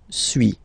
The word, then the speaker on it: suis: So first one, suis, as you've been noticing, you don't pronounce the final S, okay.